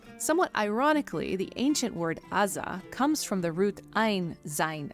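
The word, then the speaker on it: עזה: The greatest influence for this pronunciation came while translating the Hebrew Bible into Greek as the letter ain can be pronounced both aza and with the more guttural version pronounced rza and is spelled with a g.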